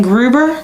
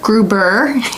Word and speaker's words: Gruber: guy andreas gribner grimmed how do you say it gruber gruber yes i don't know why i'm putting an n in there dr groover yes mr